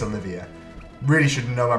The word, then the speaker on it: Olivier: The Inazuma 11 Oliver Giroud over here. Olivier Giroud? I think it's Olivier. Really shouldn't know my pronunciations.